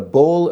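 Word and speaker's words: boll: So if it's uprooted in a bowl of earth, it's pronounced bowl, B-O-L-L, it's like a bunch of earth tightly packed around the roots, remains attached to it.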